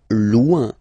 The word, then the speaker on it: loin: Loin. Loin. So remember, when you get this combination O-I-N, it's ouin, ouin, ouin.